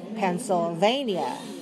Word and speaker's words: Pennsylvania: Lips together for pen. Lips together. Pen. Let some air out. Pen. Bid. No. Pen. And then for a vania. Pencil. Like you write with pencil. Vania. Okay, look at your lips. Look at your teeth. Look in the mirror. Oh, those are my teeth and my lips. Vania. Pennsylvania.